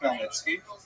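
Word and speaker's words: Khmelnytsky: a man named Bhan Melnitzki. You may have seen his name in the literature spelled with a ch. That's a Polish spelling, Chino Nikki, but it's pronounced Melnitzki.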